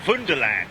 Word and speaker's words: Wunderland: But check it out, Big Jet TV Miniature Wonderland, or Wunderland, as it is pronounced, and spelt Wunderland.